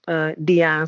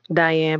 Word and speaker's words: Díane: It's actually pronounced Díane. Some people say Diane, but either way, it's perfectly fine.